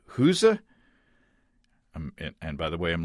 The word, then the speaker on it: Gueuze: Recently, he did a short series on brewing Gueuze, or I think he pronounces it at times something like Gueuze.